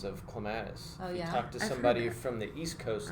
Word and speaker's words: Clematis: an interesting side note on that there's different pronunciations of Clematis somebody from the East Coast is clément Asst yeah so it's just I just kind of